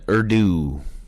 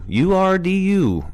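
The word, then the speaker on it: Urdu: speak in fary and ero oh that is how you say it okay all right ero Ur du ero see we're all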